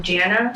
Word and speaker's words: Jana: Oh, this is from Jana, sweetie. I guess Jana, like Savannah, but it's spelled Jana.